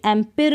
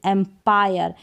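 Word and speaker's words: empire: अब इसको भी एम्पिर नहीं पढ़ेंगे, एम्पायर। इसको भी एक्सपिर ना पढ़कर एक्सपायर।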